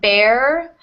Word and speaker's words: bear: we have to pronounce bear or beer um it should be more of a short e sound so bare uh or